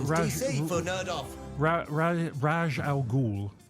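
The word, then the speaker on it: Ra's al Ghul: Raj Al Ghul. Raz Al Ghul. Final answer. Yes. Very No, I good.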